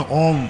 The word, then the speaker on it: ओम: के लिए होता है ओ का जब उच्चारण करोगे तुम तो ओठ खोलेंगे ओम मा तो ओठ खोलने के लिए ओ है हठ बंद करने के लिए मां है मा के बाद यानी